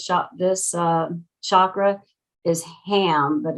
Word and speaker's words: Ham: this uh chakra is ham but it's not pronounced like ham the pig it's pronounced um h-a-h-m-m